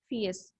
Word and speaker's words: fierce: The pronunciation is fierce. We have read this word before in the story too. Fierce. R is slightly silent. Fierce.